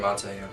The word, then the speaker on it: Miramonte: We're starting off with Oakdale, a big 64-42 victory over Miramonte, I believe. Is that how you say it? Miramonte, yeah.